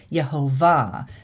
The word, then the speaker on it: Yehovah: different vowels and the accent of the name, which is why you always hear us say Yhovah because that that um note there on the top of the vav tells you that that last syllable is accented.